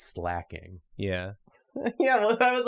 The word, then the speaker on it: Slaking: So whenever I read it, my brain goes slaking. And it's like, no, slacking.